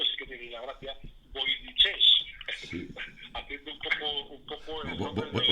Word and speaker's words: Voynich: Lo han llamado a este idioma, y esto sí que tiene la gracia, voynichés, haciendo un poco el nombre de Voynich.